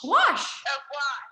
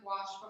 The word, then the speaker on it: gouache: And I'm not sure how to pronounce this, if it's gouache? Oh, watch. Gouache. Watch. Gouache.